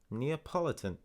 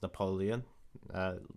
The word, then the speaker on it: Neapolitan: of this flavor was neapolitan a delicious pack trick of strawberry vanilla and chocolate for the price of one flavor i've always pronounced it as napoleon the like the french dictator this is good indeed